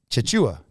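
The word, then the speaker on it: Tchatchoua: Jonathan John mochachua chachua I got to learn how to pronounce his name right because I've been pronouncing it one way which I thought was right for the last year and a half or two years and now I've I've discovered a video out there where he he pronounces it chachua chachua yeah that's how I think that's how you pronounce it so we're gonna get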